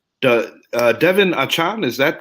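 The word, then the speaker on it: Achane: Couple of other guys I'm going to mention, and correct me on how to pronunciate this guy's name. Devin Achan, is that correct? Devin Achian, yes.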